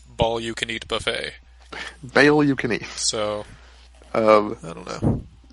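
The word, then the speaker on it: Baal: how'd you say his name was bounced again bail apparently although in the second volume when they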